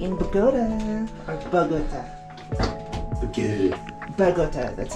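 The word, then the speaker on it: Bogotá: Bogota, that's how they pronounce it.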